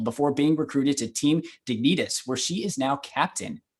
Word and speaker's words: Dignitas: I must correct you the team name is pronounced Dignitas Dignitas more like Kingdom Hearts like Veritas I should